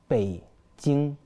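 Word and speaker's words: 北京: كميه ناس ما شاء الله اه هي بيكين بتتنطق ازاي بالصيني بيتين باي تين باي تين تين انا نطقت كده صحي تين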